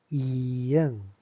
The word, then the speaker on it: 이응: And then this one is, we say it, 이응, 이응, which is a sounds, a. So when you pronounce it a, you open your lips like